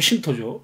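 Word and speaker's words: Shinto: 신토라고 하는 것은 일본 전통 종교인 신도를 모시는 사원 신 신 신 신신 신도 신도의 일본식 발음이면 신토죠.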